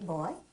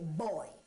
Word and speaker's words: boy: And you don't say boy, you say boy. When it's properly said, it's a two-syllable word.